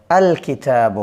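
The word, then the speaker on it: الكتاب: আলিফ লাম এটা আলাদাভাবে উচ্চারিত হবে। আল কিতাবু হবে।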